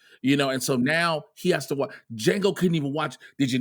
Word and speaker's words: Django: And he says, he does, and says, the D is silent.